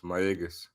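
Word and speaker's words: Mayagüez: It's Mayaguez.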